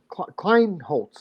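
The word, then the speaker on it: Kleinholz: We've got the youngster Lincoln Kleinholtz, I believe is how we pronounce that.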